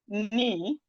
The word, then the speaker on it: knee: Knife, we have knee, we have no, we have neat, we have knock, knife, knee, no, neat, knock. The K in these words are silent. The K is silent.